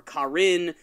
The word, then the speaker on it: Karin: Karin? I always called her Karen for some reason. I started calling her Karin because I get a lot of crap from our fan base about pronunciation.